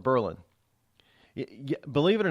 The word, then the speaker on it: Berlin: US evidently out of Berlin Germany or if you're here in New Hampshire we don't say Berlin we call it Berlin believe it or not